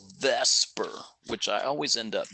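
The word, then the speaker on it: VSEPR: nobody ever says that you just say Vesper all right and the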